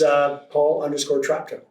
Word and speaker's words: Traptow: It's Paul_Traptow. Yeah. That's There you go. There. How you spell it?